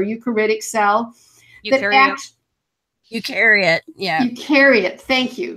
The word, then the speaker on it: eukaryote: talked about this salad I know I'm gonna pronounce it wrong but it's you karate core you critic sell you out eukaryote yeah carry it thank you thank you that